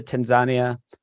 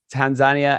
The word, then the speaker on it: Tanzania: I went to Tanzania. That's the correct way to pronounce it. I've realized Tanzania, and they eat the entire animal.